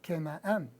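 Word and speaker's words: כנען: manera en hebreo y se pronuncia kenaan verdad eh la palabra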